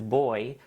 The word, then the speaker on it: buoy: Then Crafty Geek saying, for what it's worth, Brits pronounce buoy as boy because of how you say buoyant/buoyancy.